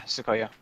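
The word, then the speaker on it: Tsukuyo: Sukuyo? Sukuyo? Is that how they say her name? Yeah, Sukuyo.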